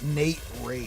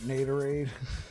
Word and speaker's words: Naderade: So, Nate, is it actually pronounced Naderade? Because I was calling it Nate Raid. I think Naderade sounds better. I think that's probably what you were going for. Like Gatorade, but Naderade. Yeah, it's Naderade.